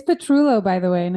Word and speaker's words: Petrullo: how are things down in Orlando hello it's petrulo by the way and it's okay if you don't pronounce my last name because I can't very